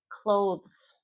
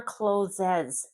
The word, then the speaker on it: clothes: Clothes. Clothes. Clothes. This is hard. T H clothes. Never closes ever. Clothes. It almost sounds like close the door. Almost. It's not the same.